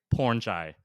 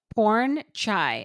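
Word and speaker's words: Pornchai: Wellness from episode one porn chai am I pronouncing that correctly porn chai okay so porn and then chai like chai after dark I think that's how you say his name that's how she says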